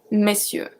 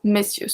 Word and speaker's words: messieurs: This one, the pronunciation is very specific. Monsieur, messieurs. Monsieur, messieurs. So we go from me to me.